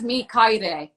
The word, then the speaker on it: Mikaere: It's me, Kaid.